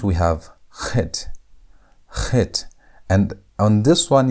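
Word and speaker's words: ח: The CH sound, as in the word Bach, the German word Bach. Bach. That Khet. As if you want to say aha, but almost like a hard aha. Aha.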